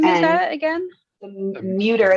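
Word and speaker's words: Mütter: The Muter. It's spelled M-U with the oblong above it.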